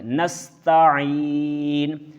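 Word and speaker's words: نستعين: درست تلفظ نہیں ہوگا۔ عین کو واضح کریں گے، نستعین نستعین ایاک نعبد و ایاک نستعین۔ آئیے اب ہم اس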